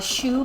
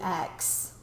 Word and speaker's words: choux: Cream puffs actually are a choux pastry that's spelled Choux.